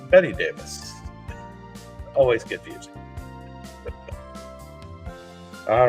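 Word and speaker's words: Bette Davis: This is Betty Davis, spelled like Bet Davis, but Betty Davis.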